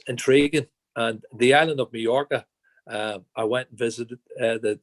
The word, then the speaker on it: Mallorca: But then after my Spanish classes, I could pronounce it because that's how you, there's the way how you pronounce a double L, like Mallorca.